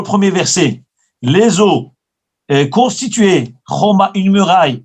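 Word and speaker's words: חומה: Le mot choma en hébreu, il s'écrit chet, vav, mem, he. Donc c'est un cholam, c'est un trait avec un point au-dessus.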